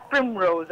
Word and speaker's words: Pinrose: Ah, le queríamos dar así la pronunciación francés, pero no. Claro, alta alcurnia. No, es en realidad Pinrose, así.